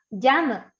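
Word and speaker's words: ジャム: Se pronuncia jam. Entonces, necesitamos la letra J y ya pequeña.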